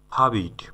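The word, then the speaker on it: forbid: ফ্লাই ফ্লাই মানে উড়া ফাবিট ফাবিট ফরবিট না কিন্তু ফাবিট সঠিক উচ্চারণ ফাবিট মানে হচ্ছে নিষেধ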